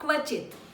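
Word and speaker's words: क्वचित्: के हैज टू बी you have to pronounce it's अ क्व क इज a combination of अ क एंड वा लेटर क्वा क्व quality so like a quality yes का शुड बी प्रोनाउंसड क्व चित क्व च क्वा क्वक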